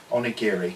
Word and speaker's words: onigiri: to look at my book there to actually pronounce that right onigiri and original country feelings it was up and